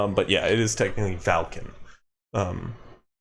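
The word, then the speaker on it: Valkin: storm hauler isn't it vulcan sorry what goliath merchant that was what i wrote sorry what'd you write falcon not vulcan yes v-a-l-k-i-n folk i'm pronouncing it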